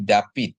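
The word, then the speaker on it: דוד: sama D ya jadi David Ya tapi kalau kita kita pakai dialek askenasi dia jadi bacanya jadi da wi gitu ya Di mana Pap itu dalam dialek eh askenasi dia W ya Bapak Ibu ya W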